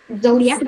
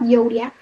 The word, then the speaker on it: zodiac: It is zodiac, not zodiac. Zodiac.